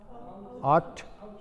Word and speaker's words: ought: La GH no se pronuncia. Ought.